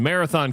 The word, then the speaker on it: Marathon: Athens was Athens and I lived in Marathon County, but it was Meritin County. I'm like, the th has a sound, people.